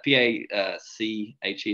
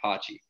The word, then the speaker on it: Pache: P-A-C-H-E. Is that Patchy or Pachi? Pache. See, I was wrong on both fronts, but he had 2 bombs that game.